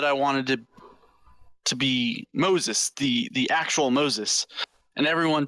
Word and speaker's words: Mozus: The campaign is MO'Zus.